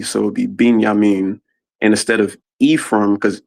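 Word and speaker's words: בִּנְיָמִין: Um, but another thing too is another when you guys were pronouncing Benjamin, I put in the chat it would be pronounced binyamin because it has a aik under it.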